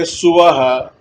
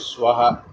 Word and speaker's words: Suvaha: It's a very common mistake amongst South Indian Brahmins to say Suvaha, even though the correct pronunciation is Swaha.